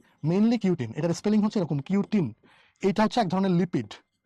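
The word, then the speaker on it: cutin: কিউটিন, এটার উচ্চারণ কিন্তু কিউটিন, কিউট, কুটুকুটু, কিউটিন।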